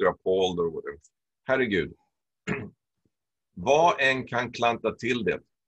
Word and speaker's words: vad: Vad en kan klanta till det. Vad here is the same as G. You don't really pronounce the D in spoken language.